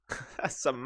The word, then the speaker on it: simile: But like you pronounce the E. She went simile. Simile. And I was like, it's pronounced simile. And then she came back with, no, you can pronounce it either way.